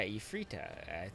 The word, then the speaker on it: Ifreeta: against a frita yeah II frita I think that's how you're gonna pronounce it it's kind of a twist on Efreet which is the female